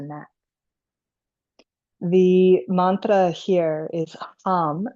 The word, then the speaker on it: ham: The mantra here is hum, spelled like ham, h a m, but pronounced hum, almost like hum.